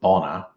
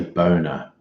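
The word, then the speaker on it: Bonner: Queensland C called boner I'm sure they pronounce it Bona but I'm just going to say boner because I'm very immature er oh that's okay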